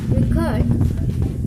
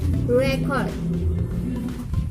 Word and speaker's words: record: in the second syllable, record, and the sound is quick. Your last record. In this record is as noun, so the primary stress is in the first syllable, record.